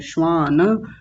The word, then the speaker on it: श्वान: श्वान नहीं बोलेंगे, श्वान।